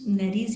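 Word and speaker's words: nares: Different लोग different pronounce करते हैं, मैंने नेरीज पढ़ा हुआ है, ठीक है।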